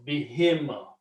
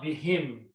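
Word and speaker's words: بِهِم: But when you read them together, because of this B kasra sound, this ha is pronounced as a kasra also. Bihim.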